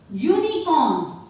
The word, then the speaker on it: unicorn: It is pronounced with the letter Y.